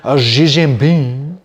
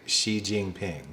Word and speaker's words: Xi Jinping: they say it they're like uh Chinese president XI Jin Bing uh I've never heard anybody say Xi Jinping right and it's not even it's not even